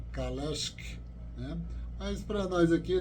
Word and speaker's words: Kalecki: mais da área né em vez de chamar CeC pronuncio a forma lá polonesa mesmo kales né mas para nós